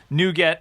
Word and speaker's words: nougat: it back um nougat is uh pr u.s pronunciation nuget n-o-o minus sign get with a upside down